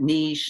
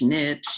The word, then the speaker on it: niche: confused with that word they don't really know how to pronounce it niche niche you know so it's a French word it means a corner